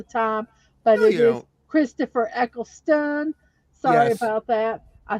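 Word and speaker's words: Eccleston: I mispronounced it because I'm Southern and I mispronounce words all the time but it is Christopher eckelstone sorry about that I said it wrong earlier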